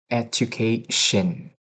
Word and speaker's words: education: But the the um the the one is about a shin. Uh you say sun. Uh, it's not correct. Okay. Education. Education. It's Shen. It's a long sh.